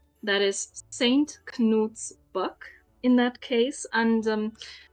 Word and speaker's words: Knut: and in this case, you can't get away with not pronouncing the K as you usually do in English with ni or night. In this case, you have to pronounce the K. It's Knut.